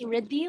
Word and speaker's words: Riddi: Um it's actually pronounced Riddi, like Rhythm.